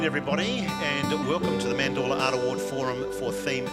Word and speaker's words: Mandorla: mom person here um the pronunciation is mandala it comes from the italian word for almond and the almond shape